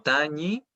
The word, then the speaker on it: Tañi: Pero son muy distintos. No es lo mismo Tañi que Tami, ¿ya?